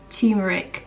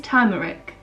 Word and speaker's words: turmeric: it quite often because as people i can't pronounce anything so i'm not really convinced i am saying it right tumeric or do you think it is turmeric yeah that's what it says really to you